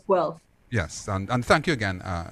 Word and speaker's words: Guelph: Guelph, yeah. Yes. Don't mispronounce it, people, because I'll Yes.